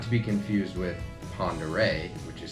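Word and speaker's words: Pend Oreille: probably I would say this is probably the most commonly mispronounced out of all of the names out here you get a lot of pendor pendor yeah all over the place pendor pendal um P which not to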